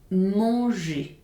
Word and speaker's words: manger: And the second case is we do not pronounce the final R of the infinitive of the verbs ending in ER, such as manger, chanter, parler.